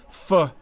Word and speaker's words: phở: Emile a national treasure fuh is a widespread addiction many Vietnamese start the day with a steaming bowl of this divine noodle soup often mispronounced but immediately appreciated fuh is pronounced like fur with a soft are